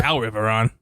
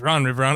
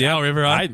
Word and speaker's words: Al Riveron: I think it's Al Riveron. I don't think it's Ron Riveron. I think it's Al Riveron. I think I just butchered that whole fucking thing.